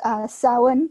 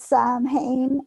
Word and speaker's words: Samhain: because the actor pronounced Samhain correctly. Love it. So, like, every other one says Sam Hain, as if he's, like, this guy called Sam Hain, and it really, really annoys me.